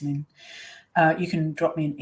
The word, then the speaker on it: Lin: I know it's spelled L-I-N-E, but it is pronounced Lynn.